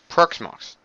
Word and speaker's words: Proxmox: let's pronounce p let me get website it's pronounced as Solar's peacocks marks proxmox and what proxmox is is a virtualization too